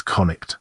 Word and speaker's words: Connacht: The usual English spelling in Ireland since the Gaelic revival is conict, the spelling of the dissist Irish singular.